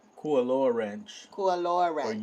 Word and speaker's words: Kualoa: Kualoa? Kualoa Ranch. Kualoa Or Ranch. Ualoa Ranch. Something No, like no, it's a K. Kualoa.